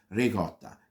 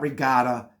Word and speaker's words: ricotta: other types of pastas it's pronounced regotta it's not regot it's not Regatta it's regotta that's the per the correct pronunciation of that word they always leave out the a it's not rigat Regatta regotta put the a at the end the way you see